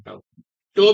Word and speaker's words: tau: Case में maximum मिलेगा, तो M equal टू टाउ maximum और डिवाइड बाई कैपिटल बी। ये ताऊ है जी, ताऊ ऐसे होते हैं। वैसे वो टाउ कहते हैं, टाउ टो भी पढ़ते हैं, स्पेलिंग इसकी ये वाली है, TAU।